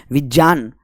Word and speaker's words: विज्ञान: और हम बोलते हैं ना विज्ञान नहीं, विज्ञान।